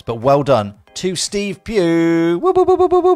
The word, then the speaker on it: Pugh: Steve Pugh. I think that's how you pronounce it. P-U-G-H, Pugh. I'm going with Pugh. Dean would have said Pugger, because he has a pronunciation issue.